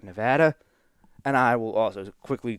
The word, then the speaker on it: Nevada: Now, I pronounce it Nevada because I'm from the East Coast, but out of respect for the people that are from there, I will call it Nevada.